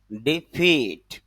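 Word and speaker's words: defeat: তবে এখানে খেয়াল করেন তার উপরে একটা স্ট্রেস চিহ্ন দেওয়া আছে অর্থাৎ এখানে একটু চাপ দিতে হবে তাহলে উচ্চারণটা হবে ডিফিট যদি আমি এখানে ড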